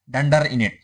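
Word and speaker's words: __init__: The constructor init, द init method pronounced डंडर init. Okay. ये डंडर क्यों बोलते हो, इसके स्टार्टिंग में दो अंडरस्कोर और एंडिंग में दो अंडरस्कोर रहते हैं, इसलिए इसे डंडर बोलते हैं.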